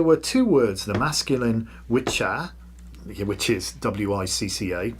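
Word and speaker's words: wicce: At this time the English language had gender and so there were two words the masculine witcher which is wicca pronounced witcher and the feminine wic pronounced witch.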